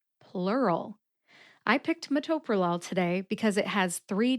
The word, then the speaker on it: metoprolol: Metoprolol. The second syllable, to, gets the emphasis.